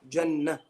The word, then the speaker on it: Jannah: Jannah. Okay? How would I write this? If I'm pronouncing it as Jannah with a ha at the end, how would I write this?